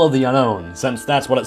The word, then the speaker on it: Unown: head every time they mispronounced unknown as unknown it's unknown get it right despite this I can